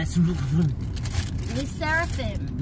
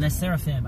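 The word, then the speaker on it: LE SSERAFIM: to Le supery super how do you pronounce the Le L seraphim L seraphim I listen to L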